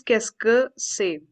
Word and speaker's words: qu'est-ce que c'est: This is qu'est-ce que c'est. We'll pronounce it as qu'est-ce que c'est. This is one word.